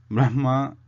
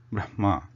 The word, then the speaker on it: Brahma: this thing continues but the fact is that Brahma should be pronounced as is it is written not in the twisted reverse way because it doesn't hold